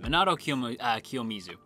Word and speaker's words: Kiyomizu: course our main character minato manado kyo kiyomizu definitely mispronounced that monado kiyomizu and they are voiced by